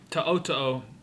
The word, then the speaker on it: To'oTo'o: He said To'oto'o.